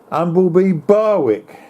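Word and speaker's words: Ingleby Barwick: It's about 40 miles away, the other side of Middlesbrough, in a place called, I think you pronounce it, Umbleby Barwick. Yes, that's correct.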